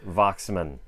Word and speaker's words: Waxman: Bride of Frankenstein parentheses by France voxman or France Waxman as most people pronounce FR Waxman France Waxman